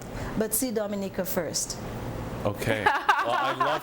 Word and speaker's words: Dominica: Dominica is how you pronounce it.